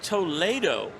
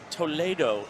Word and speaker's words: Toledo: Pronounced Toledo. Toledo in Espanol. That sounds accurate.